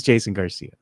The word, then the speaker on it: Garcia: Jason Garcia over here in the chat, mad that you don't know how to pronounce his name. He says, you can say Jeff Garcia, but you can't say Jason Gonzalez. But you say Jason Gonzalez. He says, thanks, Mike, because it's Jason Garcia.